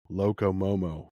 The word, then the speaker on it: Loco Momo: Loco Momo.